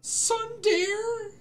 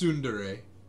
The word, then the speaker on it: tsundere: definition of sunday exhibit a sun dare it's soon today was that not how you i did not know that's how you pronounce it yeah it's tsundere okay noted for future